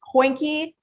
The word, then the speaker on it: Hoinky: It's Hoinky, but it's not spelled with a J. Because it's a non-English word. But I spell it like oink, but with the H in front. So it's like Hoinky.